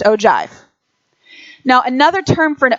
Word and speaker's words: ogive: our curriculum and it's something called an ogive Oh Jeff it's not no give it is pronounced ogive now another term for an ogive which kind